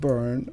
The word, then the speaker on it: Bern: No, the capital of Switzerland is Bern. Bern. Okay. Yeah, it's not literally burning. It's just well, it's spelled B-E-R-N, and Gotcha.